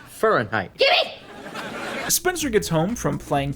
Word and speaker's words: Fahrenheit: what book were they reading fahrenheit 451 it's pronounced fahrenheit spencer gets home from playing tennis with a